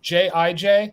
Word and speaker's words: Jij: the pronunciation is it is it j i j that's how I've been saying it is that yeah yeah yeah J I just just read each alphabet okay thank you so